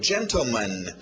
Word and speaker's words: gentleman: Continuando, gentleman. Tivemos lady e ladies, né, senhoras. Então, agora, gentleman. Pronúncia rápida geralmente vai tirar esse T.